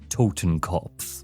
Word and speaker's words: Totenkopf: Totenkopf.